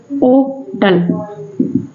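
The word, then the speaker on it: hotel: समझ लेना है आपको होटल को ओटल पढ़ते हैं ओटल इसके आगे एन का प्रयोग करेंगे ना कि ए का होटल नहीं पढ़ेंगे आप ठीक है तो इसमें एच साइलेंट ही माना जाता है जब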